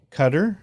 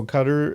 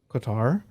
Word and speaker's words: Qatar: Cup's coming up yeah and it starts Sunday cutter versus Ecuador yeah so cutter is the host yes oh my whole life up until like a year ago pronounced it Qatar because it's q-a-t-a-r and I only knew about